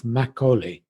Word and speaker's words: Makgeolli: The title of today's podcast is Investing in the Future of Makgeolli. How did I do? That's right. You did perfectly. Makgeolli, perfectly pronounced.